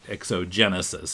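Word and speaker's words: Exogenassys: This Genesis is spelled Genassys. He was pronouncing it Exogenesis. It looks kind of like Genesius or something, but Yeah, that's the way I was pronouncing it. But what he said, exogenesis? yeah, Genesis, just like, a beginning.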